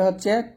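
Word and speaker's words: ح: এটা হবে হা, একটু চিকন বাতাস বের করে হাট উচ্চারণ করতে হবে।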